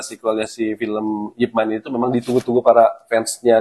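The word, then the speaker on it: Ip Man: lagi Pamungkas Pamungkas yaitu yipman kita bacanya yipman ya atau mungkin orang yang orang tahu tuh Ipan ippman Ipman jadi dia tuh memang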